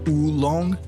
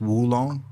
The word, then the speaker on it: oolong: tea from China, do you know that it's not actually ulong? The way it's spelled like O L O N G, it's not uong. It's actually Woo because it comes from the Woo Mountains. Wooong.